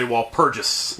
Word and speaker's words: Walpurgis: You're supposed to say Walpurgis.